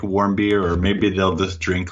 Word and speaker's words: Warmbier: special guest, my man Matt, and I can't pronounce his last name, so I apologize. That's okay. Most people can't. It's warm beer. I know. Like, what's warm beer, right?